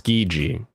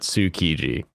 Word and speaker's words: Tsukiji: But when you say ski, it's skiji. It's not tsukiji.